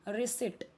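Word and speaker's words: receipt: रिसिट, यहाँ पे P silent है.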